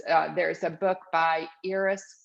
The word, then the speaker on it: Iris: really great resources uh there's a book by eris spelled like iris like the flower but pronounced iris